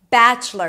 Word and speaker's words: bachelor: Bachelor. You start with a B and then it's the as in cat. Batch. Close it with a ch sound, the first syllable.